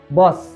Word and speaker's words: বস: আরেকটি শব্দ বস শেষে এস এস। এসএস থাকার কারণে এখানে দন্ত সহ করে উচ্চারণ করতে হবে।